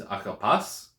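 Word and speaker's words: ἀγαπᾷς: Okay, so this is pronounced, if you're using either pronunciation, is agapas, agapas. So you ignore the iota subscript, you don't pronounce it.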